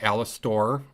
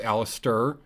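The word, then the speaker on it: Alastor: we have uh aliser I said it right this time it's not alistor it's Alister from hasbin hotel and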